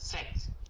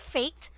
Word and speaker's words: fact: fact fact fact there it's a a short a and the T should be enunciated fact fact fact there not fact not faked but fact fact fact fact f facts yeah fact facts there if you did not annunciate the letter T it will sound a different word and you do not like the meaning of that word okay so it's fact